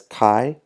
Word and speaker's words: chi: comes from Kai squ it's spelled Chi but we do pronounce that as Kai the Dees of Freedom